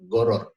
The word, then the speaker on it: Gharar: Nah, pada kesempatan kali ini, saya akan membahas tentang goror. Ya, goror. Bukan horor loh ya. Tulisannya garar, tapi bacanya goror, pakai gin.